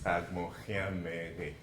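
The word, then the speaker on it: Agbonkhianmeghe: Camille asked me to pronounce my name for you, which I will do. My name is Agmochiamere.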